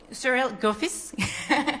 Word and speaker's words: Gouiffès: I'm very happy also to be joined in this panel with Cyril Gouiffès. Did I pronounce it correctly or not? Yes, exactly. Gouiffès.